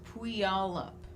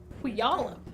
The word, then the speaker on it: Puyallup: Pulliup? Pulliup. Pulliup. Pulliup. Yeah, I think it's pronounced Puyallup. Puyallup.